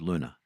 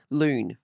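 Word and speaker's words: Lune: look at it from it spelling, but it's Luna. Lon. Lon. So, Luna is the Italian pronunciation and Lon is the French pronunciation of the word moon, right?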